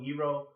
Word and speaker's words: gyro: We're also going to be making a tzatziki sauce, which is that traditional cucumber sauce that you get with gyro, pronounced Y-E-E-R-O, gyro.